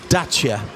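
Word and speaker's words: Dacia: studio rich harrison says it's pronounced dacha with a t in the middle not it's desire romanian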